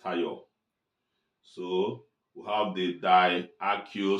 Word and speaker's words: thiol: Okay, RSH, pronounced thiol.